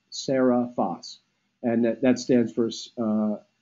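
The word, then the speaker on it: Seriphos: the night Sarah fast you got it right phonetically but it's actually spelled ser I pH OS sarah vas and that that stands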